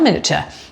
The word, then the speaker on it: miniature: Do you know how you spell miniature? M-I-N-I-A. T-U-R-E, not miniature, like a mini car, not that, miniature, that's how I like to pronounce it, miniature eggs, and you